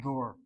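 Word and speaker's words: דור: The word that Baruch used just moments ago is the word door.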